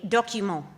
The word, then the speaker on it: document: all of which are a document spelled like document in English but if you pronounce the terminal T no one understands archival research techniques and